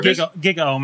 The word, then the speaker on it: GigaOM: GigaOM, I think it's called. GigaOM is how it's pronounced.